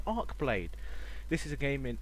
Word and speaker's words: Archeblade: welcome to let's try what I believe is pronounced arcblade this is a game